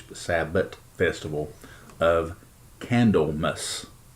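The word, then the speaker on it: Candlemas: the Sabbath festival of Kendall mus and yeah I'm saying it right it's like candle with the MAS so basically like Christmas but candle mess which is on February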